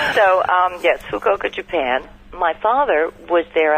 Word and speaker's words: Fukuoka: Fukuoka. Fukuoka. Fukuoka. Yes. As opposed to fuck you. So, yes, Fukuoka, Japan.